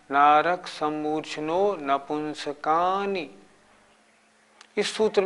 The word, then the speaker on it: नपुंसकानि: इसके उच्चारण में भी नपुंसकानि नहीं बोलना, नपुंसकानि, का बड़ा नी छोटी, नहीं तो गलत हो जाएगा।